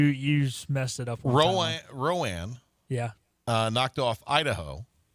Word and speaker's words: Rowan: said Ro I don't remember what you said Rowan County yeah yeah but the last time I always say ran don't give me a hard time there pet you you messed it up Roan Rowan yeah uh knocked off Idaho the fighting potatoes